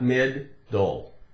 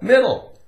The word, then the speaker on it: middle: One D, not mid-dole, not mid-dole. It's actually difficult to make it sound like it has the sound made twice, right? But it can be confusing. It's confusing. There's two letters, why aren't there two sounds?